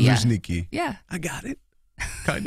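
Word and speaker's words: Luzhniki: It's not necessary for you to try to pronounce it. Ljniki. Ljniki. Ljniki.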